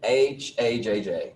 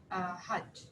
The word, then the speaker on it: Hajj: So HAJJ, help me with that one. English pronunciation? Yes. Hajj.